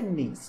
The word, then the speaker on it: knees: Aqui no knees, a mesma história, nós não pronunciamos esse K. Então, fica knees, quer dizer joelhos.